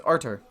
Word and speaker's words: Artur: this guy's name is artur could be arthur i have a friend named arthur and it's spelled a r t u r but the t is pronounced with still the th sound you know like the